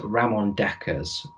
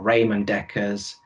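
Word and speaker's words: Ramon Dekkers: his name it was ramon deckers or raymond dekker's however you want to print out people pronounce it differently and he was a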